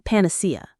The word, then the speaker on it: panacea: Solitude is a powerful tool, but it is not a panacea. Let's learn that. Panacea. Panac. The stress is on the third syllable.